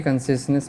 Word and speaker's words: consciousness: Consciousness, देखिए consciousness में आपको प्रोनाउंसिएट करने में प्रॉब्लम होगा.